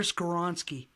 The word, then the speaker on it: Skoronski: our guy Wally pronounced help me out here pronounce the name again I got you Peter skoronski all right I swear I practiced it a